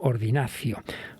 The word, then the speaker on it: ordinatio: llamado ordenación en latín ordinatio, que solemos pronunciar esa pronunciación italiana del latín muchas veces convirtiendo la T en C, ¿no? Ordinacio, un acto religioso y litúrgico.